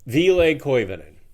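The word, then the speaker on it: Ville Koivunen: Now they I we've been calling them Villi for a while like every other you know typical pronunciation. Vle Vle Coovenan is is how they're pronouncing it now.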